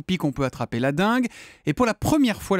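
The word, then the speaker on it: dengue: La dingue. Alors, il faut préciser à nos auditeurs, ça s'écrit D E N et pas D I bien sûr.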